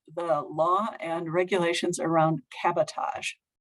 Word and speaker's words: cabotage: very first line was not to be confused with sabotage so i went with